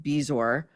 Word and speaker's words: bezoar: That's spelled Bezoar, but it's pronounced Bezor, where food sits in the stomach for so long, it turns into a literal rock.